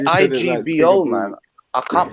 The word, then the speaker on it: Igbo: pronounce Igbo. you don't pronounce the Yeah, man. It's They say Igbo, isn't it? That's Igbo, it. Igbo. Is it? You pronounce it like it's spelled EBO. Igbo.